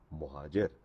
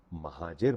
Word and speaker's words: مہاجر: تو ہم یہاں پر مہاجر ہیں، یعنی امیگرنٹ ہیں۔ تو آئندہ سے آپ بولیے گا مہاجر، مہاجر مت بولیے گا، یہ غلط تلفظ ہے۔ امید ہے آپ کو